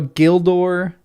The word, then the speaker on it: Gildor: G has only the sound of G in give get. Oh, so there's no such thing as a soft G in Sindarin in Qua. So nothing no such thing as a soft G. Interesting. What's up, Brian? Ryan, glad you made it for this cintillating stream. So, Gildor, Gilrain, Ogillath, it's not Ogillath or Gildor or Gilrain.